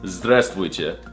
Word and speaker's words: здравствуйте: No, that's not how you say it. It's здравствуйте. Did you not learn anything from this video?